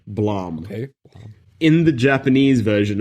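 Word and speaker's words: Blame!: blame bill yeah playboy so it spelled blame but in the trailer they pronounce it Blom okay in the Japanese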